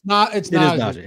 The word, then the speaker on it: Najee: It's Najee. Najee Harris. Najee Harris.